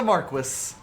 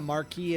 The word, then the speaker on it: Marquis: People gave that section of the game so much shit for that, and that's actually them not knowing that Marquis and Marquis are both actual title Valid. pronunciations.